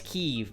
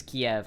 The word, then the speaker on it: Kyiv: Can't agree to how to pronounce Kyiv. It's Kyiv, but I wish it was Kiev.